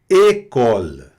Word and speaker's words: école: École. École. Repete aí. École. Não é école. Não. É école. Então, a partir de agora, você lê um acento agudo no E, não é aberto, é fechado.